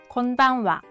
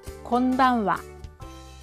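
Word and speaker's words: こんばんは: 1번 곤반와 곤반와 2번 곤방와 곤방와. 네, 정답은 몇 번일까요? 맞습니다. 2번 정답입니다. 따라해보세요. 곤방와 곤방와 곤방와 곤방와.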